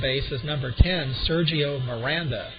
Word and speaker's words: Miranda: and at second base is number 10 Sergio Miranda m i r a n d batting third